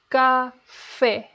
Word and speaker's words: café: Café. You know it's stressed because it has the accent mark.